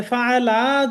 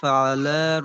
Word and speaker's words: فعل: আলম তারা কাইফা ফাআলা রাব্বুকা বিআসহাবিল ফিল। এখানে টানটা কিন্তু একটু হয়ে যাচ্ছে, হ্যাঁ। এই শব্দটাই ফাআলা শুধু বলেন তো।